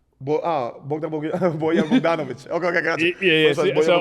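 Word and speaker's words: Bojan Bogdanović: Bojan Bogdanovic.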